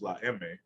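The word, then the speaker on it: La Eme: mafia referred to as la emme the spanish pronunciation for the letter m is undisputedly at the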